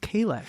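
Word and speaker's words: Kahless: Kalis, but it is pronounced Kalesh. Some Klingons pronounce it Kailish.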